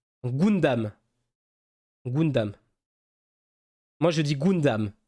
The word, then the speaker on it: Gundam: m'a mis tellement bien le U prononcé en ou Gundam Gundam moi je dis